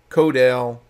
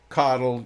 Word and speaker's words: CoDel: Active Queue Management Fair Queuing Control Delay, or AQM, FQ, CODEL, CODL, you'll hear it pronounced both ways.